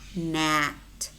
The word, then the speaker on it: gnat: And we also have words which contain the letter G, but it is silent. Gnome, rain, diaphragm, sign, Nash, gnat, design, design, campaign, foreigner, tongue, resign.